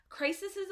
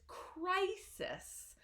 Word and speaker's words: crisis: intense and stressful situations so we pronounced this crisis so make sure that you open your mouth with that I sound crisis it's like a smile um and so the stress is in cry crisis okay and let's fit